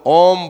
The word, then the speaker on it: ओम: ओम बोलने से आ इ म ओम इस शब्द का उच्चारण हो जाता है क्योंकि उसमें यही मिले हुए हैं। तो ओम बोल दो।